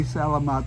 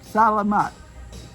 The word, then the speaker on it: salamat: here with me and she will tell you i don't say selamat the right way she gets onto me about that because i i mispronounced it but salamat that's thank you so